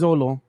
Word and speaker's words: Xolo: this name because uh how do you pronounce the first name exolo is it is this solo I think so let me look up his pronunciation again while you look that up uh I'm gonna say I'm gonna call it Zolo yeah it's Zolo okay so Zolo marida